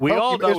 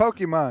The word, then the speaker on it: Pokémon: I was saying Pokéman. It's Pokémon. Pokémon. How do you spell it How do you spell it? It's m o n at the end.